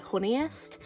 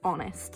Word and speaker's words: Honest: In my head, I pronounce it Honeyest. It's not. It's honest.